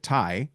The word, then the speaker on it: Tighe: I found you on LinkedIn as well, but we're probably gonna have to spell your last name because Chip Tai sounds one way, but it's spelled Chip is easy.